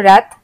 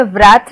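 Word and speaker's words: wrath: फिर डब्ल्यू जैसे रैथ, हम इसमें व्रैथ नहीं बोलते हैं, हम आर से शुरू करते हैं प्रोनाउंसिएशन, रैथ, और डब्ल्यू होता है साइलेंट।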